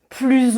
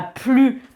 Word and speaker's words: plus: Quand plus est utilisé avec un nombre ou qu'il exprime une fraction, une répartition, une part de quelque chose, on ne prononce pas le S.